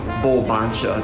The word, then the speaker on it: Bulbancha: Original name of the city, which was Bulbancha. That's spelled B-U-L-B-A-N-C-H-A.